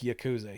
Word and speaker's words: Yakuza: Once I explained, that's the right way to pronounce Yakuza.